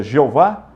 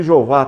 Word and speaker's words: Jeová: invenção que na verdade a pronúncia do Tet Gama se perdeu que é o y o h o w que os rabinos pegaram depois que desenvolveram as vogais para facilitar o aprendizado enxertar as vogais de Adonai no tetr surgiu a pronúncia Jeová que está na nossa